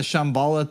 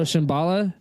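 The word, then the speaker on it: Shambhala: said the argatha system and then explained the Shambala thing and then it had Mount Shasta over here like it was just like one of many pieces to the I I so Shambala um at least if it's spelled s h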